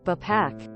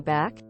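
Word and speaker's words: Bapak: is Indonesian an Indonesian calling someone BAC pronounced almost the same as papa is the same thing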